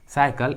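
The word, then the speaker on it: cycle: तो ट्रिक के अनुसार यदि किसी इंग्लिश वर्ड्स में सी के बाद वाई आता है तो सी का उच्चारण क्या होता है, स। इसलिए यहाँ पर सी का आवाज क्या आ रहा है, स। साइकिल एंड साइबर।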